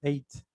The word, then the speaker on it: ate: De hecho, se pronuncia, es el verbo, el presente es eat, es eat, y en pasado se pronuncia como el 8, ate.